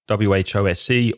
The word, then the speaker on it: whose: And one thing about the pronunciation, there's an S in both words, WHOSE or WHO''S, but it's not a s sound. The sound is with vibration, vibración, in the throat, in la garganta. So you can feel your vocal cords vibrating like a zzz.